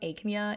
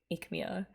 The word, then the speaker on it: Aechmea: I think it was Envy, yeah, I think it was you who said that we pronounce, it's not Aechmea, it's Aechmea.